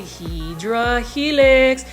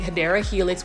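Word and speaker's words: Hedera helix: that don't know um why I say hedra Helix that's just a mispronounced way of saying hadera Helix which is English ivy and then you can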